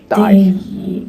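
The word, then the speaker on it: dæg: It has a G at the end, although it was actually pronounced more like a Y. It was something like dai.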